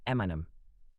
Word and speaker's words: Eminem: He took his initials, M and M Marshall Mathers, spelled them out phonetically, Eminem.